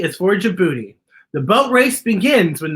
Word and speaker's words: Djibouti: d d is for djibouti the j sound with the j following the d g is for djibouti the boat race begins